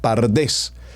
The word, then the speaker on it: PaRDeS: y de allí repito se agregaron dos vocales la a y la e para tener la palabra pardés que entre otras esta